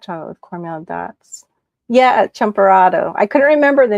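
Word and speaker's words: champurrado: Champurado. I couldn't remember the name. Champ shampurado. Champurado. Yeah, because your pronunciation is different than the Cuban Spanish pronunciations of things.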